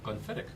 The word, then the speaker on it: Glenfiddich: to you by Alec Bradley and their co-sponsor Glenfiddich. Did I say it right? Glenfiddich. Yep. I used to say Glenfiddich. No, I always thought it was Glenfiddich, but it's Glenfiddich.